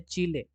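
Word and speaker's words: Chile: चीले country है, चिली बोलते हैं हिंदी में हम लोग, लेकिन ऐसे चीले बोला जाता है, ठीक है।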